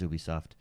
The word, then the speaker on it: Ubisoft: now this was the heavy hitter at the Ubisoft conference um and that's right everyone that tries to connect correct me by saying Ubisoft suck it it is Ubisoft uh is it Jeff or GIF for you